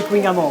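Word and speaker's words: Kouign-amann: Il paraît qu'il faut prononcer Kunyaman.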